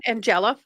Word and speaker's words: Andjela: your name today well pronounce it as uh as a n g e l a pronounce it the same ways you were to read that I've been saying Angela right Angela that's good